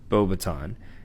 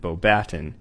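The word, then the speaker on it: Beauxbatons: he attended bobaton which is rightfully pronounced bobaton in the film they pronounce it bobaton which is a french wizarding school located in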